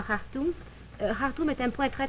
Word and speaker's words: Khartoum: Nous disons Khartoum, oui, on prononce le Kha.